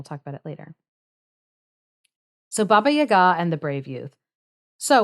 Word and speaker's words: Baba Yaga: I always forget that her name is like it's not pronounced Baba Yaga. And I'm like I had a Russian woman uh correct me and so I need to fix myself.